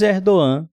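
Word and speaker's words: Erdoğan: Diz Erdogan, né? Essa é a pronúncia mais correta, a turcos na Europa.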